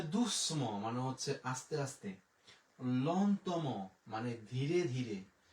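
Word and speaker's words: longtemps: তাহলে লন তো ম, ল তো ম, লন্তম। এরপরে আমরা বরযাত্রী আ ই এর উচ্চারণ একার, এম ও এন এর উচ্চারণ হচ্ছে ম।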